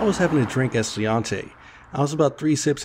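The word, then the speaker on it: Sláinte: You mean slant. It's actually pronounced Sliante.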